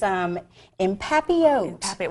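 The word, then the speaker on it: en papillote: It's empapillote.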